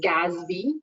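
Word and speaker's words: GASB: governmental Accounting Standards Board and that one is pronounced as Gatsby usually so that's that's how you say it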